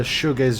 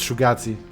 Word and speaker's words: shoegaze: __ ] adore about a guy who thought that the shoegaze genre is pronounced shugati i don't remember mikala